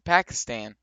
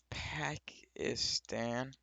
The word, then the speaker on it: Pakistan: Please move back to Pakistan.